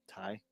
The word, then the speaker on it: Tai: Is it Ty or Tay? Ty. Tay's my sister. Well, it's spelled Tai. Yeah, Tai, like Tai Chi.